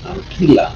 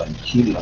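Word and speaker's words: ancilla: La palabra es anquila, ¿no? O anchila, depende de cómo se quiera pronunciar.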